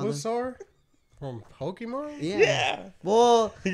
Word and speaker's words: Bulbasaur: It's not Bulbasaur. I didn't know. It's Bulbasaur. Bulbasaur.